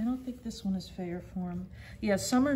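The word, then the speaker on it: Fayerform: you pronounce it i'm sorry how do you pronounce it fair form fair form yes f-a-y-e-r-f-o-r-m and here's another look at how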